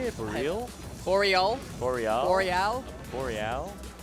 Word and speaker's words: BRL: Boreal. Boreal. Boreal. Boreal. It's like okay, so it's like Boreal. It's like kind of. Oh, it's like Oriel.